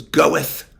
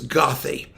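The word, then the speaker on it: Goethe: okay it's we only found out it was pronounced good much later it was goeth sometimes goeth or gothi if you were it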